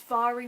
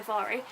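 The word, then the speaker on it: Mhairi: it's you by no i think i've always been pronouncing her name wrong i think it's vary mcfarlane mari so sorry sorry levari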